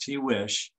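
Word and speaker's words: Tiguex: uh in a place that they call the t wish province that's how this is pronounced tea wish and the tiwi province for those of you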